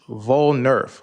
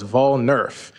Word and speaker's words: Vol-Nerf: And I put the pronunciation up there, but it's Vol-Nerf, like voting and Nerf ball. So it's Vol-Nerf.